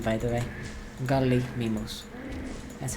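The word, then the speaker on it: Gallimimus: Unfortunately, I still need to use signs for the gali garus. Illegal pronunciation, by the way. Garly mimus.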